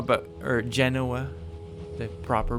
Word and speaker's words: Genoa: Spanish forces and austro-civosian forces converge outside of Genoa but or Genoa the proper pronunciation but um I'll play the scenario a